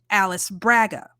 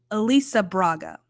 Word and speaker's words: Alice Braga: just as it's written my brain wants to phonetically pronounce that Alice Braga that's not right apparently it's Elisa Elisa Braga which is beautiful I